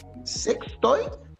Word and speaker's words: SXTOY: Chicas, platíquenos un poco acerca de corríjanme si me equivoco, pero según yo esta es la pronunciación correcta o la que pienso que es correcta. Sextoy, ¿estamos bien?